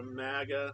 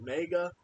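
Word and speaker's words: MAGA: she was all Ultra magga and even though she can't even say it correctly she calls it Mega um at least she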